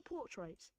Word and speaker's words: portraits: Accent on the first syllable. Pull. There's a long sound. Portraits. You don't say portraits, but portraits without pronouncing the R.